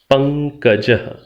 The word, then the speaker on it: पंकजः: ने सुना हुआ है, पंकजः। आप सामान्य रूप से हिंदी में शायद इतना ही कहते हैं, पंकज। ये जो पंकज शब्द है, संस्कृत में इसका उच्चारण जैसे मैं कर रहा हूं, पंकजः विसर्गांत।